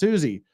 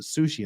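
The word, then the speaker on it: Siouxsie: in the Banshees fan but it's pronounced Suzie I've Su are you saying Suzie in sushi in the bans is pronounced Suzie in the Banshees everybody in America pronounce it sushi in the Banshees anyway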